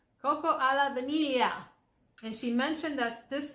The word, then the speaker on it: Cocco alla vaniglia: Cocco alla vaniglia. Cocco alla vaniglia.